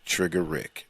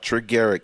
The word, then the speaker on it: Triggarik: r i g g a r i k trigger Rick that's how it's pronounced not triger young people trigger Rick oh yeah I am